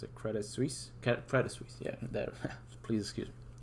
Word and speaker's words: Credit Suisse: crisis that happened not too long ago with Credit Suisse, however you pronounce it, Credit Suisse, yeah, there.